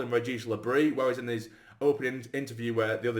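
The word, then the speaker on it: Régis Le Bris: But he did say also that I'm sure he said Regis Labrie, but he said that that's the sort of French pronunciation, so I'm sure we're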